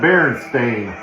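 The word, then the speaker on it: Berenstain: So apparently there's just a whole generation of boomers that just don't know how to spell or pronounce cuz that clearly says Stain. And then here written and created by Stan and Jan Baron Stain.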